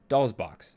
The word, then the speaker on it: DOLL$BOXX: my love bytes video someone said that you do pronounce the stylized s so doll's box i was confused i